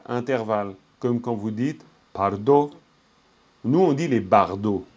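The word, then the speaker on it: བར་དོ: Bardot, non, c'est pas Bardot, c'est Pardo. Pardo. Parce que quand vous avez un premier mot, quoi, si vous dites Pardo, les fameux Bardot pour nous en français, c'est par en termes de prononciation. Attention, tranquille, hein, vous n'êtes pas obligé de bien prononcer pour l'instant. Je vous le donne comme info, c'est tout. Donc, tranquille. Mais c'est pardo.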